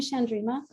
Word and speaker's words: Chandrima: people the people Sandrina you can call me shandrima uh Chatterjee Chatterjee I'm gonna get it okay